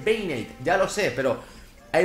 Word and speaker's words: Banette: porque la gente dirá No se dice vanete se dice binate ya lo sé pero